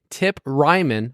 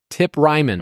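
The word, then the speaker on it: Tip Reiman: will have your boy tip Ryman I made sure I looked up the pronunciation tip Ryman okay um that doesn't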